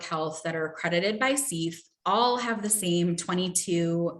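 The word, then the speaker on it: CEPH: accreditation body, which is CEF, the Council on Education for Public Health. So you may hear CEF talked about. That is how that acronym is pronounced.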